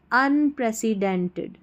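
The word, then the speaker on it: unprecedented: अन यू एन को अन प्र पी आर ई प्र सी ई सी प्रसी डेंटेड अनप्रेसेंटेड अनप्रेसिडेंटेड अनप्रेसिडेंटेड take T ई सी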